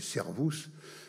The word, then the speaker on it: cervus: Le cerf, c'est un animal christologique, fortement christologique, avec le jeu de mots en latin médiéval entre cervus, le cerf, prononcé servus, et servus, qui est un des noms du Sauveur, un des noms du Christ.